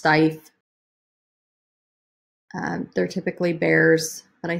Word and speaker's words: Steiff: It's, I believe it's pronounced Steiff.